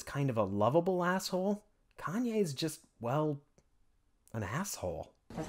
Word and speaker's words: Kanye: And while Larry David is kind of a lovable asshole, Kanye's just, well, an asshole. That's how we pronounce it. Well, I don't care where you're from, you pronounce my name Kanye.